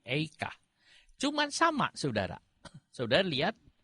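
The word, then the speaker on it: איכה: Eika, cuman dibacanya beda. Bukan Ayeka, tapi Eika.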